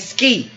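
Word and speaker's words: Squi: We've got PJ Patrick Smith, a person by the name of Bernie, and Ski, all right, which is spelled S-Q-U-I. Now, on 13 occasions, Kavanaugh refers to someone named Ski on his calendar.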